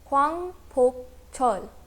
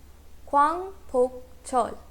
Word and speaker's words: 광복절: South Korea में इस डे को कहते हैं Kwangpokcheol. Kwangpokcheol. This word is made up of 3 syllables.